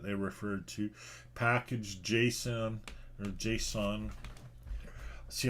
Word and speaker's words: JSON: referred to package.json or json see i always pronounced it jason but then you know over time you could just hear people in the community pronouncing it json why would they pronounce it json i don't know anyhow